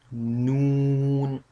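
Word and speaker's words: نون: So when we touch our tip, our edge of tongue on this place. So then we can pronounce noun sound easily.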